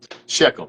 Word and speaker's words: Shechem: Sheckchum. I might not be saying it the right way but that's how it's spelled and that's what it's in about.